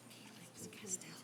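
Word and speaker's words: Calyx Castile: And it's pronounced Calyx Castell.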